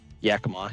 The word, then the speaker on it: Yakima: The other thing I can do is I could do a load from how do you say it, Yakima? Yakima, yeah.